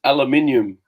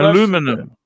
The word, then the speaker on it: aluminium: And it's aluminium. Well, aluminum. That's aluminum. That's the way you. Jaguar aluminum. Aluminium is the European way of saying it.